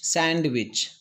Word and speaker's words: sandwich: really handsome next sandwich many people will pronounce the word sandwich sandwich there is no sand in sandwich okay and b is absolutely silent so sandwich next wednesday